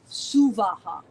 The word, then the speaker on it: Suvaha: For our purposes in this tradition, instead of Bhur, Bhuva, Swaha, which you will hear all over the internet, Suvaha. Suvaha, 3 equal separate syllables.